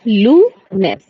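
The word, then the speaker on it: lunes: लेकिन मुझे आपकी आवाज Monday to Monday to Wednesday ठीक सबसे पहले स्टार्ट कर रहे हैं मंडे को बोला जाता है लूनेस स्पेलिंग लिख लीजिए जरा एल यू एन ई एस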